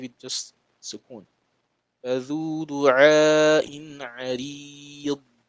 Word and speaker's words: عريض: فذو دعاء عريض.